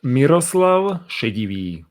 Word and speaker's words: Miroslav: we pronounce your name okay my name is pronounced miroslav and um is like a normal czech or